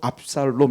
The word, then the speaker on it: 압살롬: 아버지 가 하부에 요 그러니까 아부 샬롬의 원래 이것이 빠른 방법 발음으로 압살롬 이렇게 말을 그리 뜻이 뭐냐 하면